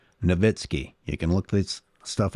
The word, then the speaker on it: Nowitzki: Dirk Nowitzki, and it is Nowitzki. Guys, learn how to pronounce his name. Nowitzki.